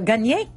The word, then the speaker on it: gagner: problème c'est quand euh quand on prononce euh gagner euh il y a dans le N il y a le son y i alors donc souvent des